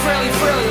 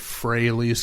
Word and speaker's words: Frehley: Then we get Frehley's Comet, which I always said Frehley's Comet, and never until recently put two and two together and realized it's supposed to rhyme with Haley's Comet.